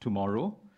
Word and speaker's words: TMRW: United Overseas Bank from Singapore has just launched in Thailand a digital-only bank, TMRW, pronounced tomorrow, aimed at millennials in particular.